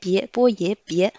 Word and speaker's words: 别: Ici, IE prononce ye. Avec le deuxième ton, ça fait ye. Le B prononce bo, ye, bie.